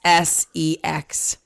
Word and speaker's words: Essex: For anybody who knows the rules of the English language and reading and decoding, you know that it's a short E when there are two consonants like that afterwards, like the word ass or asshole, which these